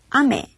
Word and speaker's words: 雨: 하늘에서 내리는 비는 아메 이렇게 발음해 주시면 되겠습니다.